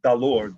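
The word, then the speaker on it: dalur: Dollar is dalor, D-A-L-U-R, dalor.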